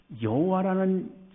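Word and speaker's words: Yahweh: 그 학자들은 여호와라는 그 발음보다는 야외라는 이름이 더 가깝다라고 그렇게 이제 호칭하기도 합니다.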